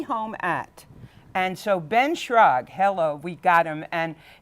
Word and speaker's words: Schrag: What I like is that everyone can pronounce it here. It's it can be surprisingly. Schrag. So Ben Schrag, tell us a little